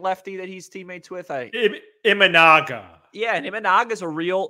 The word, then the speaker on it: Imanaga: And how do you pronounce the name of the free agent lefty that he's teammates with? Imanaga.